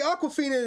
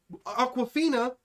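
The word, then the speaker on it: Awkwafina: talk about aquafina okay aquafina is an asian woman but it's spelled are you ready for how she spells it a-w-k-w-a-f-i-n-a it's like yeah it's like awkward okay yeah she's apologizing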